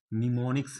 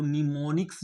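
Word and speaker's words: mnemonics: आज का टॉपिक है निमोनिक्स है ठीक है निमोनिक्स है तो निमोनिक्स जो है इसमें एम साइलेंट है निमोनिक्स में बा चांस गलती ठीक है एम जो है वो साइलेंट है तो निमोनिक्स जो है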